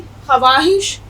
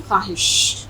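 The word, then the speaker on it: خواہش: अगर हम इसको पढ़ें ख्वाहिश, तो इसका उच्चारण या इसका प्रोनंसिएशन या इसका तलफ़ुज़ गलत हो जाएगा। इसमें वाव साइलेंट रहेगा और हम पढ़ते हैं ख्वाहिश।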